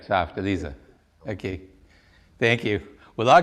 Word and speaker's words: Elise: in german is is pronounced like a z in english so a voiced s and you always pronounce